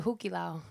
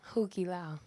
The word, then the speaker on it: Hukilau: And my aunt and uncle owned a Polynesian show at the Hukilau. That's like the staple place at in Chicopee. Hukila? Hukilau.